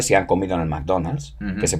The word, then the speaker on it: McDonald's: Pero McDonald's no se pronuncia así en inglés. McDonald's. McDonald's.